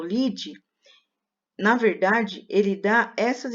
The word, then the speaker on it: lide: abrasileirada nessa escrita mas a pronúncia é lide no jornalismo porque a